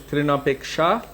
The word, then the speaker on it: Trinapeksha: So technically, it is Trinapeksha, but Bengali pronunciation would be Trinapekka.